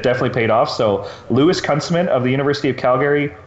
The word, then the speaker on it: Kunstmann: So I believe it's actually pronounced Kunstmann.